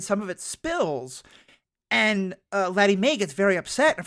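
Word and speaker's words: Lettie Mae: Laddie Mae? Laddie Mae.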